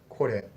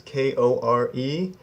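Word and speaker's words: これ: those, you'll know that the R-E makes more of a re sound. It kind of comes off the top of your mouth when you say re. So not kore. Kore is the American way to say it, but the correct Japanese pronunciation is kore.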